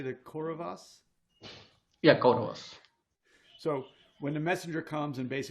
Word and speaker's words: Kauravas: yeah, Kauravas.